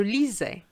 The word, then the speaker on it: lisais: Je lisais. And here again, an S between two vowels gives you a Z sound.